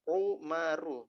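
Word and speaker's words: عمر: Dan ini juga penting Umar itu cara bacanya umaru ya oh Maru ya Umaroh kalau Ahmad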